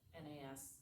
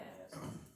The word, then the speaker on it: NAS: up from that original NAS, is that what you say, how you say it, Correct, yeah. NAS, okay.